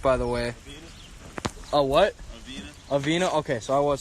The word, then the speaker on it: Avena: spell it correctly my bad how do you pronounce it by the way oh what a veena okay so I was saying it correctly your